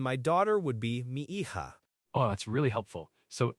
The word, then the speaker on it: hija: Son is hijo, H-I-J-O, and daughter is hija, H-I-J-A. The ha is silent in Spanish, remember, so it's hijo and hija. Right, the silent ah is always a fun one for English speakers.